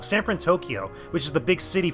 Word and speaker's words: San Fransokyo: off of San Fransokyo, or San Fransokyo. I pronounced it wrong. San Fransokyo, which is the big city from that actual movie or from that actual series, which is cool.